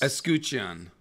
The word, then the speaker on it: escutcheon: Do you know how to pronounce that? Upon a red S. Escutcheon. Escutcheon. Yeah. Thank you. That's how I'll say it. Escutcheon.